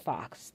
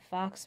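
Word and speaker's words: faux: You know the word that sounds like fox, F-A-U-X, I believe it's spelled, fox metal, and I'll put the color.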